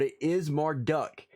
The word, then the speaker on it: Marduk: being being pronounced marduk instead of marduk but it is marduk uh as it's pronounced supposedly anyway uh it was marduk who